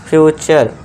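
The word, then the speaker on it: future: तरह इसे क्या पढ़ेंगे फ्यूचर फ्रे नहीं फ्यूचर नेचर फ्यूचर कल्चर और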